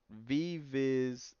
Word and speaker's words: Vivis: I've been tripping okay it's not wizard The Chosen One my name is pronounced vivis the chosen one VV Vis Vivi is the chosen one 97. I just realized that's two v's and not a w my bad that's on